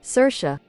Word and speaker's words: Saoirse: Voice claim for Mara is this hyperpop artist called like Sorsha Dream, I think. It's like, I don't even know how do you spell it, or how do you pronounce this? No. Saoirse? Saoirse.